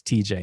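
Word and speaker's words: Tejay: And that's spelled T-E-J-A-Y. That's TJ, and Anton, A-N-T-O-N-E.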